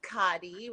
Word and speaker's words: Khady: And we have our first guest today, Khady Graydon. Did I say it right? It's pronounced Khady with an Khady.